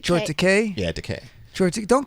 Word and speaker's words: Takei: Yeah, Takei.